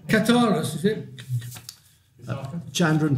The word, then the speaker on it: Kukathas: I can't pronounce his name. Kukathas, is it? Chandran Kukathas.